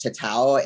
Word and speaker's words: tatau: It's pronounced tatau, and it just directly means to mark something.